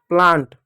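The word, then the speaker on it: plant: वहीं पर टीएच में जैसे देखो प्लांट प्लांट में देखो ए का उच्चारण आ के रूप में हो रहा है क्योंकि यहां पर एन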